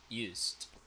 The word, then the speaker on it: used: Remember that sound for ed pronunciations when it is preceded with a voiceless sound. Used.